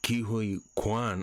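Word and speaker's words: Ke Huy Quan: and Obie a or B is played by KIU Kuan I just look that's how you pronounce the name and and that's how he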